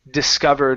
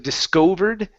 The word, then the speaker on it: discovered: And the last one here is discovered. Instead of discovered, discovered. Discovered.